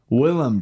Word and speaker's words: Willem: Yeah, because then I think about The Lighthouse, which he did with, is it William Dafoe? Yeah. Is that how you pronounce it? Willem Dafoe.